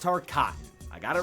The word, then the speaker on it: Tarkatan: Joining her in side-swapping is creepy dead guy's Ermac, leaving Melina with only Tarkatans on her side. And yes, it's pronounced Tarkatan.